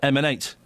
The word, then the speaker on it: MN8: You pronounce that M&8.